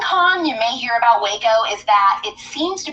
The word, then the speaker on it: Waco: Number 2, Waco, Texas. It's pronounced wacko.